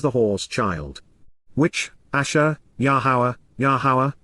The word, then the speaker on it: Yahowah: Which, Asher, Yahowah, the proper pronunciation of the name of Eloah, God has directed in